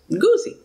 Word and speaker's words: Guzzi: I've got Michaela Guzzi. She said it rhymes with fuzzy, so it's Goosey.